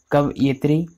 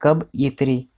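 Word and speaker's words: कवयित्री: कवि का स्त्रीलिंग कव यित्री, दोस्तों इसका उच्चारण देख लीजिए, कव यित्री, यह के साथ छोटे की मात्रा आती है।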